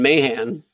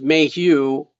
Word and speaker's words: Mahan: this is great i i found out i've been pronouncing your name wrong mahan well i've been saying mayhem yeah every month that's fine uh yeah but my name's my last name is mayhew and people call me mayhem all the time yeah